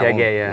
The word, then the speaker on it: Piaget: Nothing too much particular about the pronunciation of this one. People usually get this one right? You don't hear Piaget or you hear Piaget. Yeah, Piaget. Yeah. No. Piaget is people pronounce it pretty correctly.